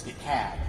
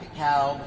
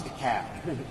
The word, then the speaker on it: DeKalb: It's DeKalb, not DeKalb, not DeKalb, it's DeKalb. So we've got to pronounce these things.